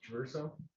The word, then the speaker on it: Traverso: That's spelled in both. Yes, please. Yes, sir. My name is Joseph Traverso, spelled JOSEPHTRA, V as in Victor, ERSO.